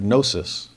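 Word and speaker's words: gnosis: in most areas well the actual word in Greek comes from that word nosis where we get the word knowledge there's his GN o and we use the KN o there's a silent letter to start either way but it's so-called knowledge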